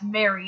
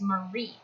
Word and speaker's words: Marie: funny that people mistake my middle name as Mary, and I'm like, it's not, it's Marie. So, yeah, my first and middle name are pretty much the same name. They're just spelt differently and pronounced differently.